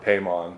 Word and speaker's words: Paimon: Paimon, who the stories, is that how it's pronounced? Paimon, yeah.